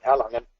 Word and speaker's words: Erlangen: Thanks, Kara, for the introduction, and thank you so much for being perfect on pronunciation, Erlangen.